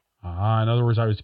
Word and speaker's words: Phacelia: It's Phacelia. In other words, I was completely mispronouncing it.